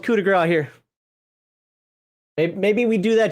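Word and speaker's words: coup de grâce: But I know in English we do pronounce it coup de grace, or American English.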